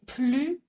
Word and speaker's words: plus: So here we do not pronounce the S. So let's have a look. Je n'ai plus de pain.